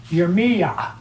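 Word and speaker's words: ירמיה: And his name is actually pronounced Yirmiyah. Yirmiyah? Yeah, it's like Yirmeyah.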